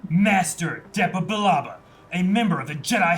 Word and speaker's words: Billaba: And where will you and your staff billet, General Billababla? Bilabia? How you say it again? Billaba.